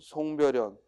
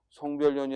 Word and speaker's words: 송별연: 337번 송별연 첨가가 안 일어나 그대로 여름해야 돼. 송별연이 아니라 뭐야? 송별연. 특히 송별연 긴 소리라는 것도 주의하고 송별연.